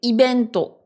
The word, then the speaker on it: イベント: Et ce qui peut paraître un peu bizarre ici, c'est l'usage du son B au lieu du V. Je vous rappelle que pour les Japonais, c'est le même son. Ils le prononceront dans tous les cas comme un B. Ils arrivent pas à le prononcer comme un V. Donc ici, event, c'est ibento.